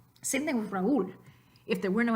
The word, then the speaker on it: Raúl: Okay, Tío Raúl. The I has an accent mark, the U has an accent mark, so they are going to start their own new syllable.